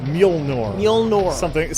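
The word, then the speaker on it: Mjölnir: talk about the hammer specifically yes they mentioned mule nor specifics that's how they pronounce it I've always curious about the pronunciation of this thing how was pronounced mule nor we all know something is something like that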